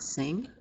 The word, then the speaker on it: sing: this is the word sing. Ink are two example words of the nasal sound. When you pronounce these words, you're not pronouncing the N, you're nasalizing the I.